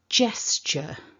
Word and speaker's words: gesture: so repeat after me stressing that first syllable gesture one more time gesture now we're